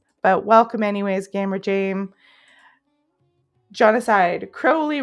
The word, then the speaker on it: Crowley: Gamer Jameside Crowley rhymes with holy.